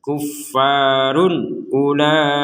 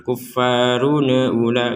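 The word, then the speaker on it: كُفَّارٌ أُولَٰئِكَ: Yang kedua, jangan dipantulkan kuffarun ula, nggak ada pantulan. Yang ketiga, tidak ada samar, kuffarun ula, nggak ada samar.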